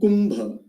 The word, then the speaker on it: Kumbha: For instance, Kula and Kumbha. You will notice that the time taken to pronounce Ku in the word Kumbha is almost twice to the time taken to pronounce Ku in the word Kula.